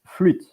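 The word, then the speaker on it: flûte: the circumflex accent in French and it's PR pronounced fluit um so now I'm going to go to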